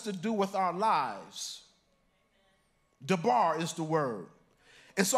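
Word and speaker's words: דָּבָר: And in the Hebrew form of that, the word is pronounced dabar.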